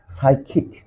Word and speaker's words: psychic: a British and American, if phi letter and s letter is used to join together, but so at first letter of any words, then the sounds of phi letter must be silent.